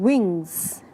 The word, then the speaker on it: wings: Also, take a note while pronouncing wings. Make sure you pronounce the S at the end of it.